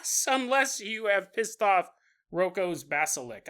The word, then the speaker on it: Roko's basilisk: Unless you have pissed off Roko's basilisk. I think that's how you pronounce it. I don't know why I always call it Roku basilisk, but anyways.